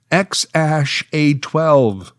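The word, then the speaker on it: X Æ A-12: They had a son together whom they named alphanumerically, a series of symbols and letters, which apparently is pronounced X-A12.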